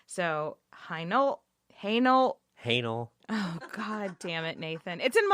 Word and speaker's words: Hainault: not a single person told me the same pronunciation. So, Hainault.